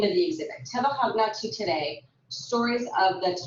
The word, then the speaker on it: Tebahagna: So this brings us to Tebahagna to today. That's how you pronounce that word, Tebahagna.